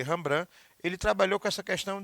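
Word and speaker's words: Rembrandt: que eu tô falando a rambrã a pronúncia é essa se escreve reimbrante de ti mas se ele rambran ele trabalhou com essa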